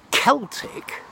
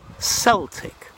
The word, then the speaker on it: Celtic: So C-E-L-T-I-C can be pronounced either Celtic or Celtic, depending if you're talking about a race of people or a football team.